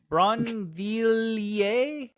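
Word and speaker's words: Brinvilliers: That's not how that's pronounced. Bronier. Bronier. So, I guess the I doesn't matter to French people. Bron villier.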